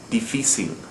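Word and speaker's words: difícil: another example difficile again it ends in a consonant other than n or s ends in an l and we don't stress the final syllable as the rule would call for we're stressing the second to last syllable deficit so we use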